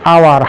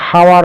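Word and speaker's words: hour: এইচ ও ইউ আর কিন্তু এইচ এর উচ্চারণ হচ্ছে না আওয়ার এখানে উচ্চারণ হচ্ছে আওয়ার হাওয়ার নয় তারপরে রয়েছে অনেস্ট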